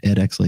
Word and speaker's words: Ed Exley: Yeah, Ed Exley.